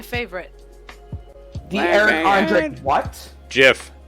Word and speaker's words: GIF: GIF. It's actually, like, according to the creator, it's pronounced GIF. Shh, shh, shh, shh. Not GIF.